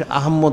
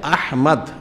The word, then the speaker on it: আহমদ: এই যে বিষয়টা, যাদের এই মহাসম্মানিত আহমদ এবং মুহাম্মদ, এখানে একটা বিষয় রয়েছে, মানুষ আহম্মদ বলে, নাউজুবিল্লাহ, উচ্চারণ হচ্ছে আহমদ, ইসমুহু আহমদ, সম্মানিত কিতাব কালামুল শরীফ রয়েছে আহমদ, আহম্মদ না, আর মুহাম্মদ মুহাম্মদ, আহমদ মুহাম্মদ, মনে রাখছে মানে মুহাম্মদ মুহাম্মদ আহমদ মনে রাখতে হবে।